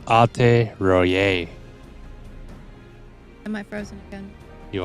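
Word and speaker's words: Alte Roite: Oh, apparently the tea is silent per Google, so it's Alte Royer.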